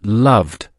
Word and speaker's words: loved: The past tense is loved, pronounced loved. Repeat after me, loved.